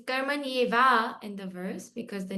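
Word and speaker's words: कर्मण्येव: Karmanyeva. It's karmanyeva in the verse because the next word is an asandhi with it.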